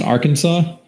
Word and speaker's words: Arkansas: like that i'm i'm being told that it's pronounced arkansas so i wore my moto 360 everywhere got